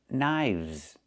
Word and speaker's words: knives: One knife, two knives. Again with the VV sound plus the Z sound like in zebra.